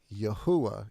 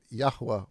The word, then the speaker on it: Yahweh: but I I I think the correct pronunciation would be yahwa even though I want up saying Yahweh myself if you just